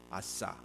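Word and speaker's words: עשה: 발음을 잘해야 돼요. 아싸.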